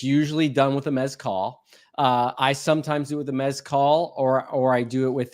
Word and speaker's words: mezcal: It's pronounced mezcal.